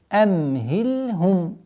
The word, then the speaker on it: أَمْهِلْهُمْ: Здесь нету назализации, кроме как свойства самым, относящимся самим звуком мим. То есть нету амхильхум. Категорически запрещено, потому что нету причины для такого произношения. Мягко, четко, ясно произносим амхильхум.